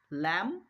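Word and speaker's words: lamb: শব্দের শেষে যদি এমবি খুঁজে পাও তাহলে বি এর উচ্চারণ করার দরকার নেই। উদাহরণ দেখো। কম বম ডাম টুম ল্যাম থাম প্রত্যেকটা উদাহরণের মধ্যে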